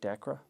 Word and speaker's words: DACRA: DACRA?